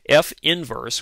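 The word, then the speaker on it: f⁻¹: given by the following f inverse which is how we pronounce this symbol f inverse is equal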